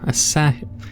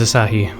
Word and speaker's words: Asahi: even more so so we are assad how do i pronounce that wait let me let me think about this all right i checked it up of how to pronounce it is asahi so i was alright thank